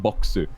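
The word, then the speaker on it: ヴォックス: in japanese especially considering my name's katakana literally is pronounced boxu you know like there's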